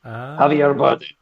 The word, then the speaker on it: Javier Bardem: Javier Bardem.